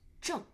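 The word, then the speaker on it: 正: So, this character is pronounced as "zhèng". Okay, so "zhèng" means right or correct.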